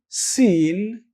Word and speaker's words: sin: s but new dot when you say seen in arabic you will pronounce it like this scene scene seen like the word sin but in english it is so